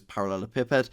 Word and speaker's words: parallelepiped: That's parallel, the letter E, and then the word piped. And a parallel pipe head looks like this. I've also heard some people pronounce this parallel piped head.